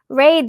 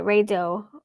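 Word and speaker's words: Raidho: go sorry excuse me Rao that's how you say it Rao R the wheel travel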